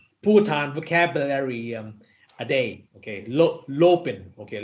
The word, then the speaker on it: Lopen: in Bhutan what's the word Ajahn in Bhutan Lopin teacher how do you spell it in English LOPEN Lobin very good so I plan to learn one Bhutan vocabulary a day okay Lopin okay Lopin yes very good so if there is no